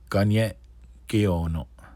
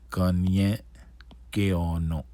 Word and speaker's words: Ganye:t ge:ono: Oneyo:tka If you're Mohawk, Ganye:t ge:ono Ganye:t ge:ono And then if you're Tuscarora, Taskalowe:n ge:ono Taskalowe:n ge:ono All right.